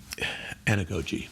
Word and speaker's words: anagogy: gouge and a ghost something like anagogy is how it's usually pronounced and it is um